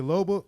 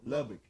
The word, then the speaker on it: Lubbock: Kane, Lubbock, Texas. Eddie Kane. You say Lubbock? Lubbock.